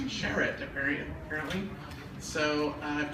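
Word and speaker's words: Charrett: have developed and in cooperation with Anne-Marie uh charit uh who I've known for nine years and last week I learned to pronounce her last name it's Jarrett apparent apparently so I have to apologize to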